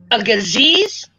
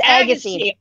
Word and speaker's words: Agassiz: So, is it, do you pronounce it a gazeez? Oh, Agassiz. It's Agassiz.